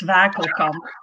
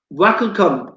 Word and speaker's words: Wakelkamp: So it's, well, in Dutch it's Wakelkamp. Wakelkamp.